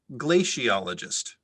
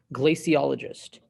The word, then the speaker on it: glaciologist: in antarctic ice sheets glaciologist has an alternate pronunciation glaciologist glaciologist g l a c